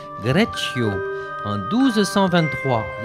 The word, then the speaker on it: Greccio: Vous avez vu comment ça se prononce? C'est en italien, Greccio, en 1223.